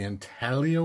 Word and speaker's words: Intaglio: Come and take it from the Intaglio Mint. Finally said it right. Only took 10 videos to finally not pronounce the silent G in Intaglio.